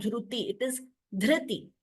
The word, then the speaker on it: धृति: Dhriti, and also this has to be pronounced as R, not as U.